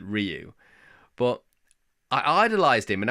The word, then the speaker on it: Ryu: I I called him Rayu back then, but I think now I know that you're supposed to pronounce it Ryu, but I idolized him